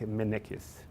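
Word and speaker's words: Mennekes: the the manufacturers uh menek is i don't know how to say how they say it in french or english but in portuguese we would say like manikis m e double double n e k e s minecraft and this this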